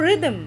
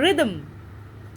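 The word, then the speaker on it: rhythm: এই সিলেবিক ডিভিশনটা দেখো, রিদম আমরা একবারই উচ্চারণ করি, রিদম।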